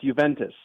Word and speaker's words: Juventus: What is the right way to pronounce it? It's Juventus.